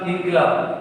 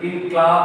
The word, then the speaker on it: ইনকিলাব: অর্থাৎ দেখো একই বাক্যের মধ্যে তিনি কিন্তু মানে অকাতরে সেই শব্দে কিন্তু নজরুল ইসলাম ইনকিলাব কেন বলছে আমরা প্রত্যেকে উচ্চারণ করি ইনক্লাব নয়, উচ্চারণ হবে ইনকিলাব।